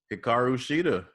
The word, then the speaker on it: Hikaru Shida: Hikaru Shida.